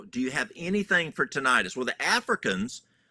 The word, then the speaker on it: tinnitus: That's the first time I've heard that pronunciation. It's tinnitus.